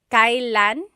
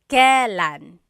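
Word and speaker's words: kailan: It's pronounced kylan kylan but you will often hear it pronounced kalan.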